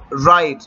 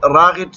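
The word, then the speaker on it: right: واول کہا جاتا ہے تو یہاں پر دیکھو ائی ایا ہے تو اس وجہ سے یہاں پر یہ جو جی ایچ ہے یہ خاموش ہوا ہے تو اپ کس طرح تلفظ کرو گے رائٹ یہاں پر اپ غن تلفظ نہیں کرو گے راغت یا کچھ اور اپ بولو گے تو وہ غلط ہوگا پھر یہاں پر یہ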